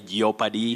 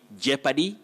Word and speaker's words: jeopardy: agree with me that many people say yopadi yes your paradise and all that which are inaccurate very common locally but very wrong you say jeopardy because letter o is silent japanese and i think